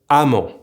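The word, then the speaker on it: -emment: It's that regardless of if the adverb ends in EMMENT or AMMENT, we will pronounce both ending amant, like if it were with an A.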